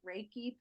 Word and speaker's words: Reiki: raiky plus and you can email her at raiki plus 369 atgmailcom and we will put that